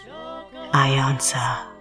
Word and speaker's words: iiiYansa: truth long story short call me I Anza spelt with three eyes welcome to my web